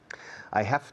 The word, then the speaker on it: have: La pronunciación del verbo to have cambia bastante. I have, yo tengo un bolígrafo. I have a pen. Have, la V es una V, que suena una F vibrada.